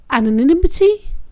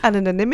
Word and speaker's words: anonymity: I like the whole anonimity of a Starbucks you put in an extra syllable there anonymity my sister doesn't like